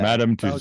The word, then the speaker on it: Madame Tussauds: Madame Tussauds in London so or I probably butchered that Keith it's not is it yeah Madame tussos yeah see there you go so he's and